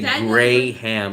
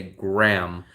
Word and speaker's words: Graham: do you know Burnham we don't say grayham we say Graham the H is silent we also have oh